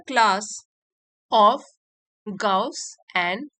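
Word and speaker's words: Gauss: इन द क्लास ऑफ गाउस and Euler. तो इनको pronounce करेंगे गाउस एंड ऑयलर।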